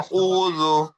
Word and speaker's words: أعوذ: قل قل قل জি, قل তারপরে আউযু, প্রথমটা أعوذ হামজা, তারপরেরটা আইন। প্রথমটা أعوذ প্রথমটা স্বাভাবিক, আর আইনটা গলা থেকে চাপ হবে।